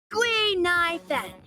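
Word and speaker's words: Guinaifen: but a Ceno friend came up with an authentic Ceno name based on the pronunciation gu NY Fen gu means finewood NY means to exist and Fen means fragrant rolls right off the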